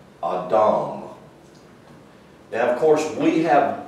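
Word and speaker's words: אדם: that that word is pronounced in hebrew it's pronounced this way a w m a dom now of course we have designated that in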